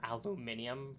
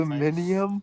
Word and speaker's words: aluminium: wrap it in like aluminum or aluminium for maybe the European I don't know aluminium that's that's how they that's that's the British that's the British saying yeah yeah depending on